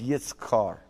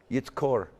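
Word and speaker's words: יִזְכֹּר: Zakar changes its sound pretty substantially in the third person masculine singular, and it's yitzkar. Yitzkor. Forgive me. Yitzkor.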